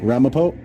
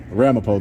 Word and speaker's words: Ramapo: Ramapo. That's a town. Yeah. Ramapo though is how you say it.